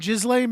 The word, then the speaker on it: Ghislaine: Is like they will literally get upset with you for pronouncing the S in her name. At all. Ghislaine Maxwell, the only one who actually faced consequences, right?